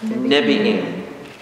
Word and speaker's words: Nebi'im: Nebi'im. What's the Nebi'im? The prophets. Prophets? N-E-B-I-I-M, Nebi'im.